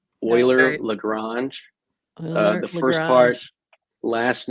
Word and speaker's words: Euler: so I guess we can start with the pronunciation oer lrange the first part last name of a